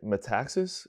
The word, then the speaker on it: Metaxas: As Eric Metaxas concludes, Mm-hmm.